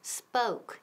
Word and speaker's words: spoke: Y ojo con la pronunciación, spoke. Esa O suena como O-U, spoke, spoke, okay?